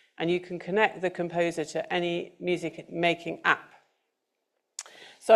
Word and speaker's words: CMPSR: Another great bit of tech is the composer, which is actually spelt with the letters CMPSR, composer.